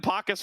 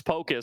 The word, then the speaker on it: Pocus: justed this out recently we've been calling him pacus for forever he does say the pronunciation is Pocus so this this will